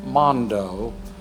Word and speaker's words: Mondo: he's from Texas originally his name is Mondo sence kind of spelled like Mando but Mondo he's a nice man